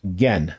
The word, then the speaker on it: Gen: The next one is Gen, the youngest son, and it's spelled Ken.